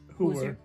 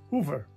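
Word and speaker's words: Heuwer: name who were but we would say who were h-e-u-w-e-r what you would pronounce hoover yeah well she would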